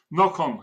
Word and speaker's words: Nocon: Well, welcome, Hillshire Media author Nocon, or is that how it's pronounced, Nocon? Nocon, yes, Nocon.